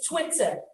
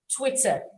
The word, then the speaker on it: Twitter: is from the bird when you're tweeting it's tweets it's a long e but when you articulate the name of the app social the social networking app it is twitter twitter so did we get